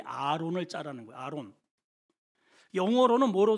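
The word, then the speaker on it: ארון: 여기 궤라고 하는 히브리 언어의 발음이 아론입니다. 아론.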